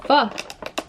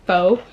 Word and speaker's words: pho: in Toronto, it is me ordering donkatsu and pho. I remember last time I said pho, you guys got like so heated at me,